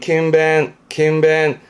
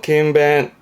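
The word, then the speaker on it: 勤勉: 요 정도인데 보면 이게 근자라, 부지런할 근자라서 이게 근면한, 부지런히 일함에 힘쓰는, 발음은 킴벤, 음으로는 벤가요? 킴벤, 근면의 킴벤이고요.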